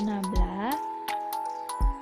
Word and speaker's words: nabla: Didefinisikan operator nabla, ini bacanya nabla, dan operator nabla konjugat